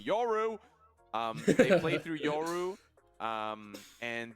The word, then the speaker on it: Yoru: Sorry, oh my god, I keep pronouncing him like he's got a U in his name. Yoru!